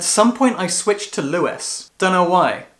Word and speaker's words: Louis: called Lewis Lou Creed I say Louis Louie because the way his name is spelled in this book makes me a British person want to say Louie but this is an American novel and so I'm sure it's supposed to be Lewis interestingly halfway through this